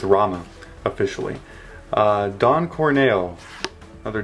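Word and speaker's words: Ramuh: got rama okay a lot of people say ramu uh that you do not pronounce this guy ramu okay i'm just saying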